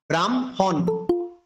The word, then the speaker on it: ব্রাহ্মণ: সাথে হ যুক্ত হলো, সেক্ষেত্রে আমরা হয়ের উচ্চারণটা পূর্বে না করে পরে করতে হবে। এই জন্য এটা করবে কি ব্রহ্মা ব্রাহ্মণ।